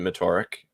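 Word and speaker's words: Metorik: are your favorite email marketing tools I've mentioned motoric um before they're they're fantastic they do standard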